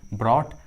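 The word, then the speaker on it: brought: उच्चारण नहीं किया गया है, जी और एच साइलेंट है, जी और एच का आवाज़ नहीं आ रहा है। थॉट, ड्रॉट, उसी तरह ब्रॉट, हाइट, ब्रॉट, हाइट, देखिए दोनों इंग्लिश वर्ड्स में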